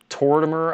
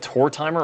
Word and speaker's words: Tortimer: Like I pronounce Tortimer. I pronounce that Tor timer. I know people don't like that, but I guess it's like my southern accent.